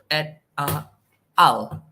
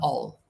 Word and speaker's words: et al: It should be at al. It's not l. It's not all.